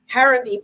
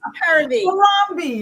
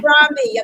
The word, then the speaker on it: Harambee: as a managing editor for Harambee Press. I said it wrong. It's Harambee. Harambee.